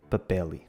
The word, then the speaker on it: papel: Neste caso, é comum a adição do som i quando uma palavra termina em L ou R e a última sílaba é tónica. Comer fica comeri e papel fica papeli.